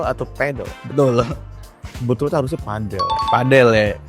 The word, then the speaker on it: padel: Betul harusnya padel. Padel ya. Padel bukan pedle. Pedel karena pedel kan p a d l e.